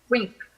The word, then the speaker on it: WINC: Caribbean Acceleration Program known as, I hope I'm pronouncing this right, WINC AP? Wink.